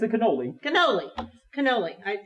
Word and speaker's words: cannoli: this delicious looking pizza oh my goodness and cananoli is that what this is it's a cannoli cannoli cannoli i said it wrong that's okay